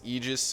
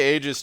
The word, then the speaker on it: Aegis: work I never mind apparently that's not a Greek word and it's Aegis according to Google however I say stick with the Greek pronunciation what is the Greek pronunciation I say ages just because that's I've